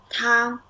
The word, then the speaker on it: 他: yeah, 他. Yeah. So in Pinyin and the pronunciation, hey and she in Chinese, we all call it 他.